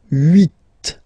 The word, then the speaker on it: huit: Then here, final T is pronounced, so huit, huit. Remember in French this H letter here, okay, doesn't exist phonetically, so we don't really pronounce it, okay? So if you listen carefully, you will only listen or hear these vowels at the beginning of the word.